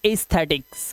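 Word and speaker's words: aesthetics: sound को उठा लो अब देखो ए और ई में क्या दिखाई दे रहा है ई ई को उठा लिया तो यहां पर आवाज आ गई ई की अब कर दो वही काम इसे क्या पढ़ेंगे इसे पढ़ेंगे एस्थेटिक्स क्या पढ़ेंगे एस्थेटिक्स इसी तरह से ये देखो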